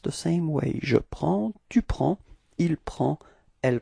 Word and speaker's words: prends: singular, je, it's je prends. Repeat. Je prends. Okay, so you can see that we've got S at the end and then D as well, but then we don't pronounce them.